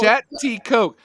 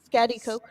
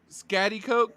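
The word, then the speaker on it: Schaghticoke: to this one yeah i believe him oh chatty coke that's not how it's spelled pronounced spatty coat coke scatty coke scatty coke then spell it fat eat coke not whatever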